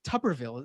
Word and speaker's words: Tuberville: much as reading it i didn't know it was uh pronounced tupperville um you're the sports expert is that true tuberville again i i said